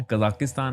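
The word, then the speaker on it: Kazakhstan: काजाकिस्तान को छोड़ के? काजाकिस्तान। कजाकिस्तान। यस। इसकी प्रोनाउंसिएशन कजाकिस्तान है या फिर काजाकिस्तान है? काजाकिस्तान। काजाकिस्तान ओके मैं भी सही बोलूंगा अब बेस्ट बिजनेस कल्चर आपको कौन सी कंट्री में मिला?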